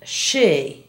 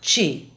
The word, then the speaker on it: she: Listen to the following SH words and how they're mispronounced in Spanish. Shadow is often said as chado. Cash, not cotch. Usher, not utcher. And she, not chi.